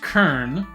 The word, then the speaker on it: cairn: So, pronounced Kern, borrowed from Scotland, Scots Gaelic.